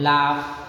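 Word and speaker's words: laugh: हो तो vowels letters, तो जी एच का प्रोनाउंसिएशन जो होता है एफ के जैसा होता है, जैसे लाफ, टफ, रफ, कफ, समझ लगा ना।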